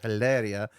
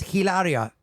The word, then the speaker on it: Hilaria: My name is Hilaria. Faker, the H is silent.